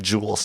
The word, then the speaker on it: JUUL: spell it jewel like jewels jewels or jewels the smoking tool are j-u-u-l jewel j-u-u-l project jewel uh yeah